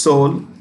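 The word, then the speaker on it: Seoul: the capital is sold it's pronounced soul okay e is silent E is silent Soul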